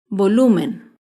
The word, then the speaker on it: volumen: grave sin tilde es la palabra volumen el volumen se acentúa en la penúltima sílaba pero no lleva tilde porque termina en n volumen por último otro ejemplo